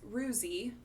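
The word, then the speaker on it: Roozzi: streamer i spoke with his name is rusi and that's spelled r-o-o-z-z-i um he's a variety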